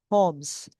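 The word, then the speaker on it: Holmes: This is a poem written by डब्ल्यू एफ होम्स। इसमें L students silent है डब्ल्यू एफ होम्स।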